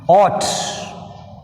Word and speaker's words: ought: Ought. GH is silent.